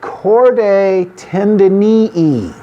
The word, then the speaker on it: chordae tendineae: things are called the chordae tendineae you pronounce it as if there are two long e's at the end of the word notice the spelling chord